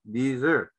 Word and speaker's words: dessert: kegiatannya berwisata d17 dessert Awas jangan keliru membacanya dengan atau padang pasir karena pengucapannya hampir mirip yang ini mengucapkannya dessert dessert adalah makanan penutup dalam